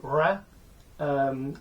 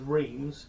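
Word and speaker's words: Reims: then ride down to ra um or as in in England you might pronounce that as Reams but it's not pronounced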